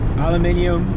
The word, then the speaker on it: aluminium: You know, nobody knows how to pronounce it. Aluminium, aluminum.